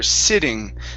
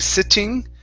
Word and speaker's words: sitting: Okay, let's go to this word here, sitting. So instead of using a normal T, saying sitting, okay, let's use a flap T here.